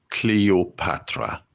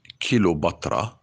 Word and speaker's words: Cleopatra: Greek Macedonian petalumaic Queen her name is Cleopatra not kilobatra and not kill you batra I go with you